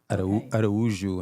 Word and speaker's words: Araújo: But it's Araujo in Spanish and Araújo in Portuguese, and Americans can't say either very well. I know. So I've settled on Arujo. So how do you say it in Portuguese? Pronounce it in Portuguese again? Araújo. Araújo. Yeah, but see, George, the